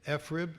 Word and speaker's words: FRIB: a survey as to whether or not to pronounce f rib efrib or frib not that we do public opinion polling in washington but 53 percent of the people said frib and i'm going with frib even though i think